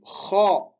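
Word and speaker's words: خاء: On dit kha. Et là, on prononce avec, comme si c'était un rugissement. Kha. Et avec un son grave.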